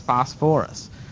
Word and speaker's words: phosphorus: be this one what fos not phosphate but fos forus phosphorus oh man all right let's see spell it phosphorus pH it's all ph's pH fos o pH again because the fs are ph's and then o r o u s all right okay who